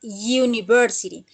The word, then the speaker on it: university: Entonces, la U de university no se pronuncia como nosotros decimos universidad, no. En el idioma inglés, la pronunciación es university. Entonces, cuando yo digo you, ya es una consonante, ya no es una vocal, ¿sí?